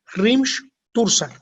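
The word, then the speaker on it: hrímþursar: Se pronuncia Rimsh-Tursar.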